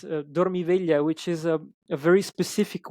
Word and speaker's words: Dormiveglia: Um and I know I should know better, but the right pronunciation for the title is Dormiveglia, which is Uh-huh.